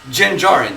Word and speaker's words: Din Djarin: How do you pronounce his name? Din Djarin.